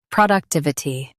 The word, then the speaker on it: productivity: prod uk tiv i ty productivity Stress tiv and keep i soft.